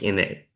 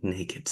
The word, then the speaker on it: Naked: I am an Appalachian native, so I don't want to make that sound like Nekkid, Naked No, City.